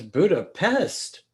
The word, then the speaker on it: Budapest: her apartment in budapest she says buddha pest no that's buddha right now so that's the hungarian pronunciation right so did they